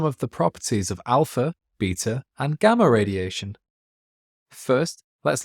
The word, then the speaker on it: beta: Beta particles are just fast electrons. They have a charge of -1, and their symbol is the Greek letter veta. This is pronounced beta in English or American.